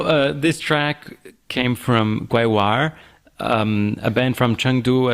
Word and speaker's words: GaiWaEr: So, uh, this track came from Guoir, um, a band from Chungdu, as Will was saying earlier. Guir is a pronunciation from the Sichuan dialect, but they sing in in Mandarin.